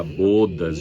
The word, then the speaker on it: bodas: Ó aberto agora com o fechado. Sim. Bodas de prata, bodas de ouro, não é bodas que se fala.